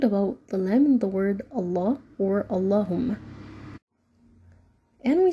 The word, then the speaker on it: Allah: so the word Allah is gonna be light two so it's gonna